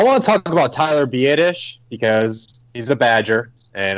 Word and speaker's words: Biadasz: Biadasz. Well, Yep. In my mind, it's better because I always thought it was badass, like a Boston guy saying badass, right?